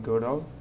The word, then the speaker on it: Godot: game of chess using Goo that's pronounced goo and I'm using 4.1